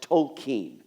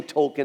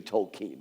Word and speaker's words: Tolkien: right away that technically his name should be pronounced Tolkien. But that is just too hard for a poor American tongue to say. So I will say Tolkien, as most people do, but technically it should be Tolkien, but I'll say Tolkien.